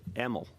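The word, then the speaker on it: Amal: Yeah, I'm going to say Emil. It's even though it's AML, you say it like an E.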